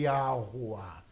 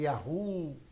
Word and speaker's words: Yahuwah: Eu, porém, dou a pronúncia de Yahuwah. Tem irmãos que falam aqui Yahu e outros dão uma pronúncia aproximadas também, tá?